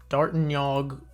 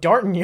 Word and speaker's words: D'Artagnan: He's thinking of Fuck, I need to look up this fucking pronunciation again. D'Artagnan. Fuck. Bonjour, this is the Frenchman, with his full name, D'Artagnan.